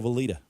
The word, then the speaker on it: Valita: Follow Valita, like follow the leader.